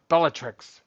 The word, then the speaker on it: Bellatrix: It is Beatatric. Yeah, we know what it is. Well, it's Bell. I think it's Bellatricus or something like that. Is that how you pronounce it? We say it pretty. I don't even think they said Beatatric. Beatric, but because one of those things that they pronounced Oh, uh, Bellatrix. Bellatrix. Yeah. Yeah. I'm sorry. Bellatrix.